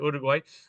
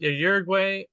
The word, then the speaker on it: Uruguay: We went to Uruguay, where we pronounce in English, I would say Uruguay, but Uruguay, 7,000 miles away from Seattle.